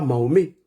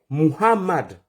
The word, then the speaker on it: Mohammad: la paix d'Allah sorcellu s'appelle pas Mahomé. Il s'appelle pas Mahomé. Mahomé c'est un vendeur d'acheké. Il est à Trèjeville. Si tu le cherches, tu le trouves là-bas. Le prophète de l'islam s'appelle Mohammad comme de la manière